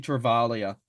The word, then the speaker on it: Travaglia: worry guys Toby travalia travalia I think it's actually travalia it's a silent G travaglia uh travalia um seems